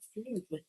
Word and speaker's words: flume: Flume. Is that how you say it? Flume. Flume. Flume. Like plume.